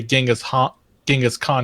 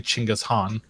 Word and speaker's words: Chinggis Khan: Kind of like how, like I said, what people say Genghis Khan, it's actually Chinggis Khan. Yeah, Chinggis Khan.